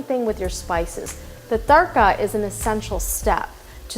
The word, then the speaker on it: tarka: That point of where you're putting in the whole spice into your oil or ghee is called in Hindi tarka. It's spelled T-A-R-K-A.